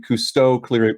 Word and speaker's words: Kusto: KQL, which is the Cousteau query language. It's spelled Kusto, but Cousteau is a joke on like Jacques Cousteau.